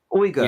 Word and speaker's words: Uyghur: Uyghur. Yes. The Uyghurs. Okay. Yes. English pronounce it like Uyghurs.